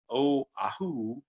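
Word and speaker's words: Oʻahu: or just go with it you know and oahu oh ahu um and kawhi god knows if i'm pronouncing that right you know you've got like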